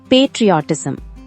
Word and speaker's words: patriotism: Hi friends, இன்னைக்கு நாம என்ன பார்க்க போறோம்னா பேட்ரியாட்டிசம். இந்த வேர்ட் எப்படி ப்ரொனவுன்ஸ் பண்ணணும்னா பே ட்ரீ அ டி சம்.